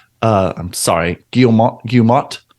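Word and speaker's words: Guillemot: investor call CEO Eaves guillemont uh I'm sorry guilla gilmat I think it's the L is silent responded to an investor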